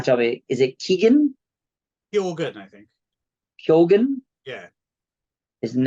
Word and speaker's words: Keoghan: There's some other famous figures with that spelling which are pronounced Keegan, but I think in this case it's Barry Keoghan.